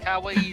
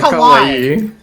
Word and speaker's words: kawaii: It's a twocllable word and I think you put four syllables to it.